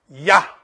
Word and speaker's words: Yah: Y-A, always. Because the A symbolizes the Trinity. Yah. Here is Ha, and here is Yah.